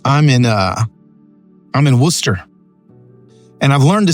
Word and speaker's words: Worcester: just glad you're here you can say Worcester or Worster but it is Worcester okay darl is it